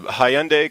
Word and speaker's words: Hyundai: What's interesting, we did a Hyundai commercial.